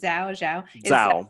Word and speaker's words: Zhao: Zhao is, how do I pronounce it? Zhao, yeah.